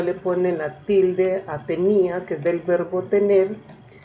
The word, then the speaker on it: tenía: Miren la diferencia en la pronunciación. Mi hermano tenía una tenia. Tenía, del verbo tener, lo diferencio poniéndole tilde, y tenia sin tilde, entonces sería ese nombre.